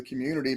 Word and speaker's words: Cxmmunity: And so it's Community is spelled CXMMUNITY. So instead of an O, it's an X there.